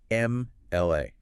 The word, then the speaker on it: MLA: But when you pronounce the acronym, you don't make an M sound. Yeah. You say MLA. The very first sound exiting your lips is A, which is a pure vowel sound.